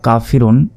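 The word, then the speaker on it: كَافِرُونَ: হবে নুন জবর না কাফিরুনা তবে এখন যদি আমরা এখানে ওয়াকফ করি তাহলে এখানে আমাদের তিন আলিফ পরিমাণ টেনে পড়তে হবে কারণ আমরা এখানে ওয়াকফ করছি কাফিরুন এবং শেষ অক্ষরটিতে সাকিন দিতে হবে যদি আমরা ওয়াকফ করিয়া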